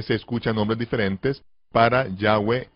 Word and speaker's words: Yahweh: Fonéticamente se pronunciaría correctamente Yahweh. Yahweh. Donde Yod es la Ya, He es A, Vav es como una vocal U, y He, E.